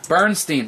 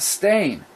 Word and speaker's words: Bernstein: Bernstein, that's what it was. Not Stain.